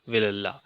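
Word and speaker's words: Vellala: Rich peasants of द विलल्ला, basically the exact pronunciation is Vilalla.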